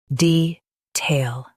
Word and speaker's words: detail: US stresses tail. UK stresses de.